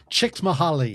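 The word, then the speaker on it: Csikszentmihalyi: to say it's like chick mahali chick mahali that's it well Flo what is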